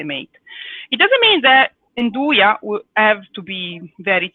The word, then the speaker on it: Nduja: accent at the beginning they make you aspirate you know i don't know how you say it in english anyway it's a way to pronounce it that makes it sound like it is an eye in do ya okay so that's a